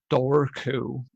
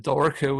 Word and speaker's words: Dobhar Chú: So it's Dobharchu. Dobhar Chu is how you pronounce it in Irish, I believe.